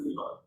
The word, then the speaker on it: Iran: In the language, we pronounce it Iran.